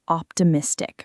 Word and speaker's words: optimistic: Let's talk about the word optimistic for a second because it's one people often mispronounce. The stress falls on the second syllable. Optimistic.